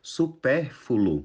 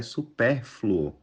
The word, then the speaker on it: supérfluo: o correto é entretido supérfulo na verdade o correto é supérfluo Tá e por fim